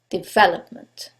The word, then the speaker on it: development: the last syllable development in this case it's the second syllable development now you couldn't know